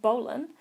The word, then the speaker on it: bowline: The bowline, sometimes pronounced bowline, is a very useful knot.